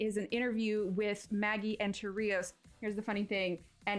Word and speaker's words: Enterrios: But Enterrios is how it's pronounced.